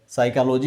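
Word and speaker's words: psychology: का एक शब्द यहां नाइफ कहा गया गायब साइकोलॉजी हो गया पी गायब हो गया इसी तरह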